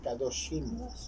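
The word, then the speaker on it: קדושים: En el hebreo se pronuncia kadoshim, ¿sí?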